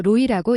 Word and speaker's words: ROE: ROE는 리턴온 EU 줄여서 로이라고 읽습니다. 먼저 ROE의 개념입니다.